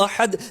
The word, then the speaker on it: احد: کیونکہ معنی ہی پورا تبدیل ہو گیا ہے۔ صحیح تلفظ کیا ہے؟ قل هو اللہ احد۔ ترجمہ کیا بنے گا؟ اے محبوب آپ فرماؤ وہ اللہ ایک ہے۔ آپ نے احد کو ہٹا کر احد پڑھا ہے۔ اب احد کا معنی